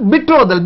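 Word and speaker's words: betrothal: இதனுடைய உச்சரிப்பு வந்து பெட்ரோத்தல் உச்சரிச்சிடக்கூடாது, பெட்ரோதல், பெட்ரோதல் ஃபங்க்ஷன், நிச்சயதார்த்தம், பெட்ரோதல் ஃபங்க்ஷன், புரியுதுங்களா இல்லையா.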